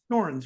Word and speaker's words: Dorrance: And did I pronounce it Dorrance, right? That's how you pronounce it.